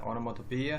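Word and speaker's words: onomatopoeia: The next one इज ओनोमाटोपोइया, इसका जो pronunciation है ओनोमाटोपोइया है। और यदि आपको याद ना हो तो आप इसे याद रख सकते हैं, ओ मेरे मोटे पिया।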